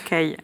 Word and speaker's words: Callies: Alors votre nom s'écrit plutôt Caliès, c'est ça? Oui, mais ça se prononce Caille.